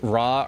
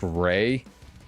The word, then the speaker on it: Ra: like rah or a is actually pronounced ray like r e y.